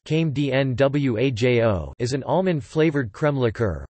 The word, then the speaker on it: Crème de Noyaux: Crème de Noyaux, pronounced came d-n-w-a-j-o, is an almond-flavored crème liqueur, although it is